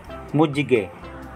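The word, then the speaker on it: 무지개: J po ang bigkas kapag nasa gitna po ng dalawang vowels.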